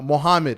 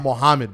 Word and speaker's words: Muhammad: is uh uh uh mohammed i'm like your name is not muhammad bro like your name is mohammed and they'll laugh and